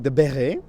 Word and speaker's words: béret: The béret, with the T at the end, but we don't pronounce it, was originally a hat for sheperds.